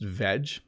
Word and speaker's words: veg: very informal word and it's pronounced veg and it's a short form of vegetable but we sometimes say